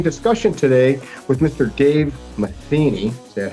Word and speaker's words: Matheny: Dave Matheny.